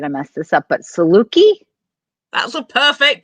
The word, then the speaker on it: Saluki: I'm probably going to mess this up, but Saluki? That's a perfect pronunciation.